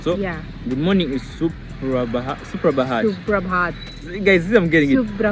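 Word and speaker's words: सुप्रभात: Or else you can say Suprabhat. Suprabhat. Oh, namaste. Yeah. Suprabhat. Suprabhat. Yeah. Okay. Have I pronounced it well?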